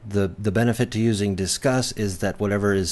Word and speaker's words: Disqus: how the system works, and they say Disqus, so I learned how to pronounce it the way they want us to.